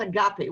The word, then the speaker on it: agape: about the concept of a gape a-g-a-p-e does that translate from what you're talking about now or is that a completely different construct uh well actually it's pronounced agape agape yeah is that where